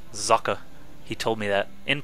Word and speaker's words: Socke: it's a German word for sck and it's pronounced zaka he told me that in person believe it